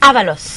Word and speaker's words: Avalos: D'abord, est-ce que je prononce bien Avalos ou Avalo? Avalos. Avalos. Ou Avalo, ça aurait été bon.